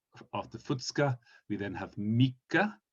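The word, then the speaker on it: みっか: So after Futsuka we then have Mika. Please pay attention to the double K.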